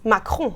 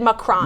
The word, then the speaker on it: Macron: Well, really, it's Macron. Macron. Emmanuel Macron. But Americans have accepted Macron.